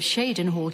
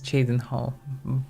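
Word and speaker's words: Cheydinhal: I closely supervise the priests and healers of Shadenhole Chapel so they might more closely approach the sacred ideals of our faith. I like how they pronounce Chadenho. Some of them at least. Not just Chadenho, but Shadenho.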